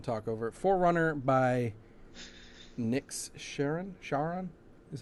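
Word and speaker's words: Charon: Forerunner by Sharon is how I'm Nick gonna pronounce Sharon. it. Sharon, like the river Styx.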